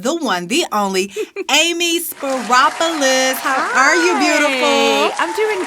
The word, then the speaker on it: Speropoulos: am talking about the one the only amy spiropolis are you beautiful i'm doing great and you just pronounced my name so beautifully good you did